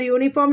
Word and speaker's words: uniform: So that we are writing here. It is a consonant sound.